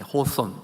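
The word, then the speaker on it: Hawthorne: 유명한 소설가이면서 정치가였던 나데나일 호던 발음이 어떻게 다르게 하는 것도 있는데 호손 뭐 이렇게 바람도 하죠 그죠 나타날 호던 제가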